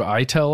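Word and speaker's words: Aitel: a quote from Dave I tell I think is how you say it a-i-t-e-l former NSA hacker is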